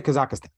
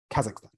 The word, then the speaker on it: Kazakhstan: Don't say Kazakhstan because that's not how you say it. No. I don't want to be snobby here. I'm really bad at most things, but just say Kazakhstan.